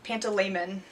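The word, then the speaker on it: Pantalaimon: I loved the animals panto laman I think is how you say Lyra's demons name he was really interesting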